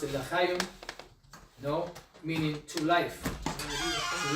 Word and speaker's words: l'chaim: They wear like pendants, and they pronounce it l'chaim, no, meaning to life, to life.